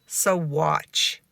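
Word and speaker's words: Saguache: Swatch and I'm sure you're wondering how to pronounce that and it is soat so the word soat is actually a Native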